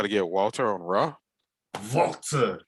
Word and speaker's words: Walter: Walter, that's how you say his name.